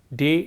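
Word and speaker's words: die: me there and likewise this word D I II which is for the marker for the feminine gender is pronounced as D and this word they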